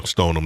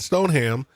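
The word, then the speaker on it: Stoneham: you know you know stone them not stone ham stolen um you know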